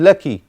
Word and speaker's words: لك: If you talk to a woman, it's shukran laki. Otherwise, it's shukran laka. Thanks to you. How about if you stop? Lak. Shukran. Lak. This is how you pronounce it, but not how you write it.